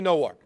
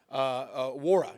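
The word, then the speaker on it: Nwora: Mackenzie Nowar. Wara, excuse me, I'm saying it right. Is it Wara, right? It's a silent N.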